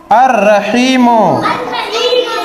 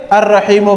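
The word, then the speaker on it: الرحيم: मिलकर के बना है अलिफ जबर आ लाम साकिन या साइलेंट लाम साइलेंट रा रा पे तसदी हा पे जेर हा पेर या पे साकिन मीम पे पेश अर अ र ही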